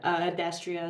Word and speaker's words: Adastria: is it Adastria? Is that how you pronounce it? Cool. Go ahead. Yeah, Adastria is fine.